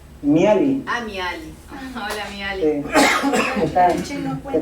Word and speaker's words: Mihály: ¿Cómo se pronuncia? Mihaly.